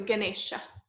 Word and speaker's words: Ganesha: it's me um yeah except the e is a short e so it's e right so Ganesha Ganesha yeah which is the